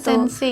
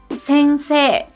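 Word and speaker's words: 先生: jelas-jelas gitu ya satelit sensi gitu gimana tuh harusnya kalau ini pengucapan yang Betulnya itu adalah Sensei itu wahahahaha tanggal ragajaya kalau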